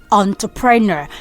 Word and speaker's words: entrepreneur: Entrepreneur. So I'm concentrating on the E there. That E is not N. So say O.